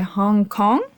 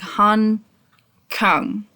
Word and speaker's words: Han Kang: It's called The Vegetarian by Hong Kong. Um, I'm not exactly sure. I'm sorry. I think it's pronounced more like Han Kang. Hold on. English pronunciation ha. It's pronounced more like that.